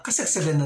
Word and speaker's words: Kasagsagan: Patay sa kasagsagan ng lindol. Patay sa kasagsagan ng lindol. Patay sa kasagsagan. Kasagsagan ng lindol. It should have been patay sa kasagsagan ng lindol.